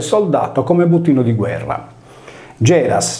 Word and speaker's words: Γέρας: Geras, senza la S sigmatica del nominativo, si leggeva come il sardo Gerra.